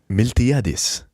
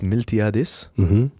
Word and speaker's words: Miltiadis: Well, if you can spell it, you can find Miltiadis, right? It's Miltiadis Kyvernitis.